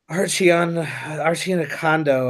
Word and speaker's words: Arcidiacono: So I love how it's Archie, but there's no H in it.